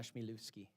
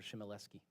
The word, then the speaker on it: Schmielewski: I pride myself of being one of the few people that can pronounce her name properly, Donna Schmielewski. Everybody else calls her Shmielewski.